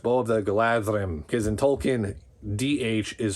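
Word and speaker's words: Galadhrim: I'm reminded now that the bow of the galadrim is really supposed to be pronounced bow of the gladrim because in Tolken dh is supposed to be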